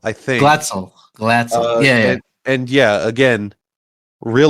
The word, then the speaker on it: Glatzel: Is it Gatstil? Glatzel, I think. Glatzel.